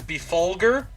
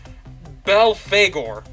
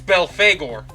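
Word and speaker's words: Belphegor: Supposedly, it's pronounced Belfagor. So instead of Befulger, like I've been saying this whole time, it's Belfagor.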